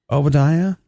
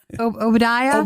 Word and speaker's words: Obadiah: like what's your name and I was like oia he's like what's that oia oia he's like could you spell that for me he wasn't getting it I